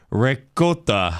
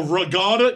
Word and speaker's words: ricotta: Because I start to say ricotta. Oh, regatta?